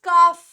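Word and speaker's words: calf: हाफ हाफ ठीक है क्योंकि एलएफ साइलेंट होता है वैसे ही यह वर्ड गाय का बछड़ा इट इज़ काफ ठीक है इट इज़ काफ इट इज़ नॉट कल्फडी अंदर दिस वर्ड मीनिंग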